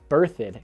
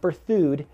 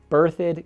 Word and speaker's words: Berthoud: bit south of loveland is birthed colorado not berthoud berthed colorado now this too is